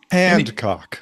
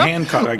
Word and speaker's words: Hancock: Um Handcock. Hand. It's not Handcock. It is. No, there's no D. There's no D in there. It's not. It's a Hancock.